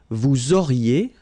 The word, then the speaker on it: vous auriez: Vous auriez, liaison here, and then EZ will go like E. Vous auriez, okay, and the last one.